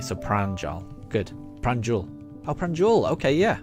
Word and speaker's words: Pranjal: And Pranjal. Ah, good. I'm glad I'm pronouncing it correctly. So Pranjal. Good. Pranjul. Oh, Pranjul. Okay, yeah. Right. Pranjul.